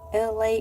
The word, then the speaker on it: Elay: Looks like LA is present and in the house. Thank you so much for coming in. My name is LA, pronounced like LA, like the city.